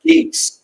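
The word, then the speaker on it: Gätz: that I think if it's spelled and it's pronounced Gates. I was like, cool. Well, I guess I just told you his last name. Didn't want you to know. Anyways, it's GA with 2 dots, TZ.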